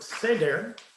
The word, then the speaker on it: Seder: an event called the Seder, right? And the word Seder, or Seder in English pronunciation, means order.